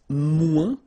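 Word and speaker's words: moins: to say less it's mu in French so no discussion about the S here don't pronounce it okay mu du and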